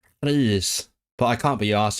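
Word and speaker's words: Rhys: I like to use the h sound for the RH. In proper like dictionary pronunciation, you'd say Reese, but I can't be asked to do that.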